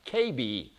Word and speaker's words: Kirby: It's apparently Kirby is pronounced KB in Japan.